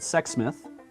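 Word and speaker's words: Sexsmith: you know but it's not it's just it's sex smith alberta it's like okay there's stories i've heard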